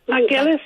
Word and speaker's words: Vangelis: Vangelis, yeah.